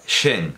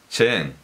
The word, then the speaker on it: Cheng: lengua oficial de francia pues no es françois eso no es falso singh es françois zinc es françois chin y concretamente chen con esas con esas